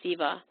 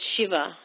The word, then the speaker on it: Shiva: I had a friend in college who wrote his name out as Siva, and people pronounced it as Siva, and it's Shiva.